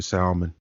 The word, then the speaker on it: salmon: i'm gonna get the salmon i turned to russia you do know that l is silent right cause i try not